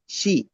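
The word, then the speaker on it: 四: আরে কথা বলিস না পা পরে হ্যাঁ, চারের উচ্চারণটা অনেকটা এরকম হবে। হ্যাঁ, এটা তাই যে দেখ আমাদের আমাদের এটা জিহ্বা হচ্ছে পাঁচটা এই নিচের পাটির দাঁতের সাথে, হ্যাঁ আমাকে লক্ষ্য করুন ক্যামেরার দিকে, হ্যাঁ ডিসপ্লের দিকে। তো এই যে আমাদের জিহ্বাটা হচ্ছে জিহ্বার আগা আমাদের নিচের পাটির দাঁতের নিচে সাথে লেগে সি, সি, সি। হ্যাঁ, এভাবে উচ্চারণ হবে ওইটা।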